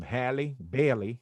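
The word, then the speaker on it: Halle Bailey: um she's going um let me say her name correctly um hallie bailey not halle berry halle berry barry bailey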